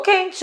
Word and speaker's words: quente: Igual quente, ó. Quente. Esse que U é dígrafo.